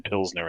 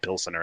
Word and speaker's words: pilsner: yes we we've we've we do lessons on the show every now and then between pilsner and pill center and what's got an e what doesn't happen it's not pronounced pill center but it's got the second e in there um after the town pilsen um but yeah i